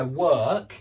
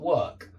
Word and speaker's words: work: ER sound yeah and that's why work is the same pronunciation as were if you can do this word were and just put put a K on the end you've got work work work work whereas